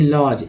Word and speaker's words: lodge: अब देखिए लॉज, LODGE, यहाँ भी डी गायब हो गया, जी का उच्चारण ज कर गया।